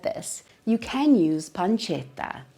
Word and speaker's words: pancetta: this, you can use pancetta, not pancetta, pancetta. Again, those two consonants at the end, those T's, make the emphasis go on that part of the word, pancetta.